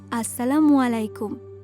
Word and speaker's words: আসসালামু আলাইকুম: পারো আসসালামু আলাইকুম সাফা না না বাবা আসসালামু আলাইকুম সঠিকভাবে যদি তুমি সালামের উচ্চারণটা না করতে পারো তাহলে সালামের অর্থটাই বদলে যাবে আসসালামু আলাইকুম মারুয়া কি